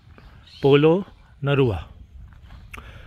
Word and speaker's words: Polonnaruwa: की साइट जगह भाई यह स्पेलिंग फाइनल पढ़ ही लो यार पोलो नरवा बोलते हैं इसको और यहां पर भी